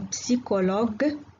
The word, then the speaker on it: psychologue: C plus H se prononce K. إذن هذا الحرف المركب ينطق مثل الحرف K في بعض الكلمات في اللغة الفرنسية comme le technicien, le psychologue, le chronomètre.